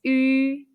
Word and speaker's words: ü: of it in Pinyin, the pronunciation is yu. Yu sound is like the double E sound in the English word be, but with rounded lips.